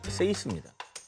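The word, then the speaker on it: Seis: 숫자 그대로 육을 표기합니다 발음은 스페인어로 육을 뜻하는 세이스 저거는 세이스 누가 봐도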